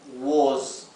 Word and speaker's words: was: La palabra was se pronunciaría así en español, was, ¿sí? Lo escribo con Z para que no lo pronuncien con una S, was, pronúncienlo z, was, ¿bien?